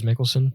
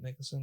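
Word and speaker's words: Mikkelsen: How do you say his last name actually? Mads Mickelson. Mickelson. Yeah, he was he was in he was in Death Stranding.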